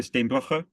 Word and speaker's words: Steenbrugge: And I'm pronouncing it right, Dr. Steenbrugge. Yeah, that's fine.